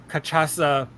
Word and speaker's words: cachaça: of 100 is aged cachaça. Cachaça, is that the right how for the pronunciation? That's pretty close.